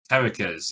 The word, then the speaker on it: Kerrikas: James, how would you pronounce Kerrikas? Kerrikas, yeah. See, that's how I would say it too.